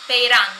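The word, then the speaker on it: πειρᾶν: È un termine greco che è peiran, sì, peiran, l'accento è sulla A, che vuol dire appunto assaltare.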